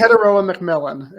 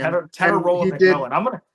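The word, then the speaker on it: Tetairoa McMillan: Teteroa McMillan is his name. Teteroa McMillan.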